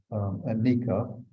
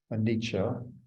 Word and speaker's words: anicca: The Pali word anicca, anicca, one of those two pronunciations, or unreliability.